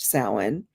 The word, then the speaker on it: Samhain: Samhain, but it's pronounced Samhain.